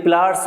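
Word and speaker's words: pliers: ठीक है ना, लेकिन हम जब बोलते हैं जनरली तो इसको प्लास कह देते हैं। इसमें आर जो है ज़्यादा साइलेंट कर देते हैं, इतना करना नहीं होता।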